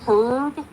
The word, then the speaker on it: herb: Do all Canadians pronounce the H with herb? Herb. Herb. We supposed to say herb. Yeah. Silent H.